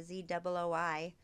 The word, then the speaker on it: Zooi: And you can find Walter with a ZOOI, Walter Z. Walter Z. How do you say it again? Zooi. Zooi. I got it. Like soy. Zooi. Yeah, like soy.